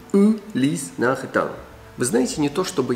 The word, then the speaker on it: Ulysse Nardin: Единственный самый правильный вариант произношения на французский манер будет звучать так. Ulys Nardin. У, не ю и не у. Ulys Nardin.